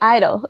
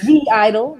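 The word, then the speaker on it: (G)I-DLE: Yeah, she like writes and Wait, okay, the G is silent? Yeah. Yeah, you didn't know that? No, that's so dumb. What? That's so. Yeah, it's Silent G Idol.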